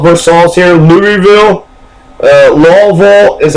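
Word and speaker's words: Versailles: vers versailes you know we signed a versailes treaty we were War but it's a versals that's what we call we call versals here louville uh lville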